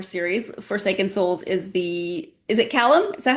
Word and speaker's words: Callum: So the Callum Walker series, Forsaken Souls, is it Callum?